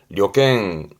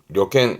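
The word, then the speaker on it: 旅券: 발음은 려갱, 려갱 명심하시고요.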